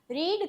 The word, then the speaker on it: read: Spelling तीनों का ही same होगा, लेकिन प्रोनाउंसिएशन V2 और V3 में चेंज हो जाएगा। रीड का रेड हो जाएगा।